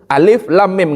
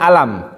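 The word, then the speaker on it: الم: seperti Surat Alif Lam itu dibaca per huruf alif lam mim nggak boleh bacanya alam nggak boleh harus dibaca hurufnya atau misalnya Nun Apa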